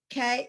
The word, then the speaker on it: Kalman: Say it again. Kalman. Kalman. So and he was evidently from a family that was reasonably educated for those days.